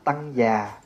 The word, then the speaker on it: Tăng già: nói gọn là tăng tăng nói đủ là tăng già phát âm từ chữ